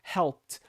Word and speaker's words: helped: Já, por exemplo, a palavra help no passado vai ser pronunciado como se fosse um T no final, porque ela termina com P, assim como as outras terminam em K, CH, SH, enfim. Então vai ser um som de helped, helped, helped. Esse som de T no finalzinho.